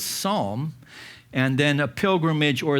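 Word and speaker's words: sawm: It's pronounced as psalm.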